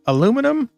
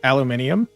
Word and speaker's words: aluminium: Okay, so they got aluminum, which if you're not from the United States is pronounced aluminium, uh brass, cobalt, copper,